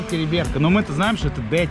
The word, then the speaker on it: Териберка: Табакерка? Териберка, правильно, произноси Териберка, нам сказал таксист, местные официанты, бармены.